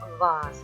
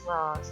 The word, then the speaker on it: was: तो W sound जहाँ पर भी आए, जैसे कि आप कहते हैं वास, WAS वास, तो उसको आप कैसे बोलेंगे? वॉस। देखिए लॉट ऑफ डिफरेंस। पहले आप कहते थे वास, अब आप कहेंगे वॉस।